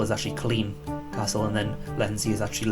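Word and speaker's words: Culzean: he corrected me saying you don't pronounce the zeds in uh in scottish names for example cozy and castle is actually clean castle and then latency is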